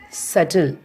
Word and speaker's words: subtle: For example, a B, a letter B in a word subtle, that means S-U-B-T-L-E. Here we should not stress or pronounce the letter B. We have to pronounce like subtle.